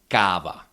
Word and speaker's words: káva: So in check you say best tempo cava. Uh there's no aspiration uh in those consonants.